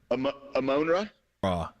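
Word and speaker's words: Amon-Ra: his name Sam Brown amona ra oh you know it's like a great you you got to think Egyptian god is what you got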